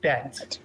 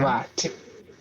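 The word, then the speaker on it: בית: Louisa, with line 4 would be Aleph, Aleph, Bet, Bet, Aleph, Aleph, Bet, Bet. Frederick, kindly line 5. Aleph. Nice. Continue. Bat. Bet. It's an like Elfu bet. That. Yeah. Good. Continue kindly. Aleph. Good. Aleph. Mm-hmm. Bat.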